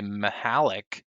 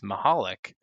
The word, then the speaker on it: Mahalik: A lot of people say Mahalik, and it's Mahalik, is how it should be pronounced.